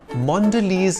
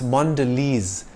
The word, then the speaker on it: Mondelez: word for luggage maker Mondelez is the American multinational company that makes and bakes Brands like Cadbury Oreo and five star it's not pronounced Mondelez or mondele it's Mondelez when Kraft Foods split into